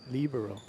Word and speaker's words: libero: I like how you say that, libero. Yeah, One of the languages you speak. That is the proper pronunciation in Italian.